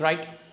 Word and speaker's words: write: सी राइट. W का कोई जरूरत नहीं यहाँ पे. इट्स राइट.